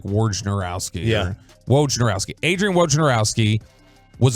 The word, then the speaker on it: Wojnarowski: Wojnarowski. I always want to put an R before the J, like Wojnarowski.